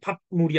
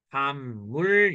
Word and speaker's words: 밥물: 됐어요 얜 어떻게 돼요 읍은 뭘로 변한다 미음으로 변한다 그래서 이놈 발음을 밥물이 아니라 반물 렇게 이해됐어요 응 그러면